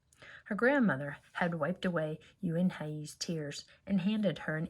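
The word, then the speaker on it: Unhei: "Une?" the girl asked, scrunching up her face. "Une?" some kids chanted. No, Yoon-hye corrected. "It's spelled U-N-H-E-I. It's pronounced Yoon-hye." "It's you-hey?"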